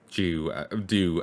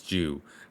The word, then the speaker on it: Dew: A relative kept saying Dew as Jew, and it's completely throwing me off. I know the mispronunciation, but I keep sliding back into it, and it bugs me.